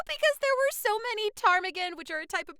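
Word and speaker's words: ptarmigan: Because it starts with a P like pterodactyl.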